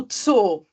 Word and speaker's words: Zoo: pensar num exemplo aqui o tso que é zoológico né a gente geralmente abrevia tso z o o t Então como tem dois os né o aí se falar pronunciado aquele esticadinho também como se fossem mais né ã Outro exemplo é